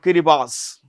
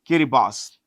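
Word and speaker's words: Kiribati: now this was this in a place called kirib boss this is pronounced with Boss B SS okay kirib boss now you see this is Australia New Zealand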